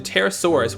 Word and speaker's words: Pterosaurus: Its Japanese name is Terra, in homage to the Pterosaurus, which is loosely based off of. And yes, the P is silent.